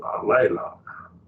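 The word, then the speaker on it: ἀλλήλων: It's got 2, 3 syllables. Alelon. You break it right there.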